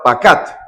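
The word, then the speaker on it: פקד: la palabra la palabra pacat. Pacat con acento en la A.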